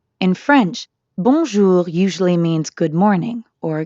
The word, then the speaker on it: bonjour: in english in fact the n isn't really pronounced at all instead practice saying o